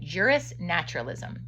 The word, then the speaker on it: juris naturalism: For those who have not yet read these publications, I call my viewpoint juris naturalism. And he pronounces it jurisnaturalism, sometimes abbreviated JN, meaning the belief in a natural law that is higher than any government's law.